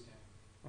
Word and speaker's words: damping: It is damping. Okay. Two syllables.